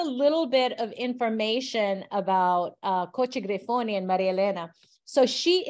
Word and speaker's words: Cocci Grifoni: Oh, Cocci Griffoni is my family name. Marilena is my baptized name. Yes. So, and just a little bit of information about Cocci Griffoni and Maria Elena.